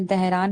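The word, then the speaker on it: Dhahran: एच आर एन तो उसको आप एच साइलेंट करके दहरान बोलेंगे तो यू नो सूटेबल लग रहा है इसलिए।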